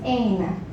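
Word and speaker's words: Aine: It's Ain. It's actually a Scandinavian term which my mom produced.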